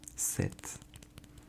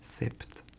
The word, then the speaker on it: sept: And here we have one set. Set. Set. So set. It's s P t. And here the silent letter is p. We don't say sept. Sept. It's set.